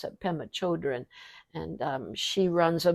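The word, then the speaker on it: Pema Chödrön: read an awful lot of her name is pemma Shen children that's how you pronounce it pemma children and um she runs a Buddhist uh uh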